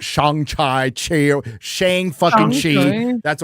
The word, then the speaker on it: Shang-Chi: So we all said Shang-Chi. It's not Shang-Chi.